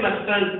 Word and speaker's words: mustn't: Again, don't pronounce it as mustn't. Never ever say mustn't.